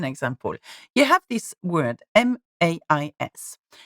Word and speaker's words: mais: You have this word, M-A-I-S. Without tréma, mais, okay? It means mais, as in but, okay? It means mais. So the A and the E, so A-I, are pronounced together, making the sound E.